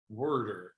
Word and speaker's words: water: word water, you can't because we do an extra R. Sometimes we say water. Worder. Like you put an R before the T.